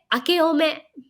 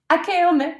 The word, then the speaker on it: 明けおめ: 明けおめ. Akeome, akeome. 明けおめ.